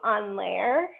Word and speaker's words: en l'air: We're going to do them en l'air, which means in the air. It's spelled E-N space L apostrophe A-I-R, I think, so it's like air.